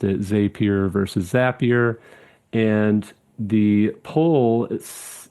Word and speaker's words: Zapier: You know, it's what my uh argument Zapier rhymes with happier is a good way to remember it for sure.